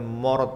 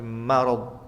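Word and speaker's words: مرض: Dan pada kata marad ma bukan mo bukan morad tapi marad.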